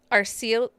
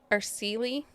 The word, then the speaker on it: Araceli: And I'm gonna say her name wrong, but Arceli. Araceli? Yes.